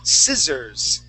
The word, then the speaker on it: scissors: They're called scissors. Okay, like that. Scissors. Yes, a hairdresser. Okay, they're called scissors. Those that cut, those things that cut, scissors. Okay, that C at the beginning is silent.